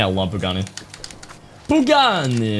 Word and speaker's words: Pagani: Do you like Pagani? I love Pagani. Pagani! You guys gotta say it like that, it's necessary.